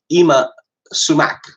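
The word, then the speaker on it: Yma Sumac: last night was something by a woman called Ima Sumac, who, that wasn't her real name. I guess it's spelled Y-M-A.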